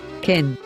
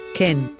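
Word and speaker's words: כֵּן: underneath the letter so pronounce it as the a of the word egg so now you know how to say yes in hebrew kin kin wow look at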